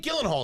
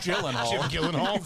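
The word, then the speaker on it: Gyllenhaal: well I mean Jake Gillen Hall is successful you know what I mean like you know when you get to when how successful is he you pronounce his name wrong it's Gillan idiot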